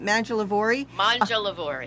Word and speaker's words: Mangialavori: Tell me how to pronounce that. Mangialavori.